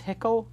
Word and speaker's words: Hickl: Did I pronounce Hickl correct?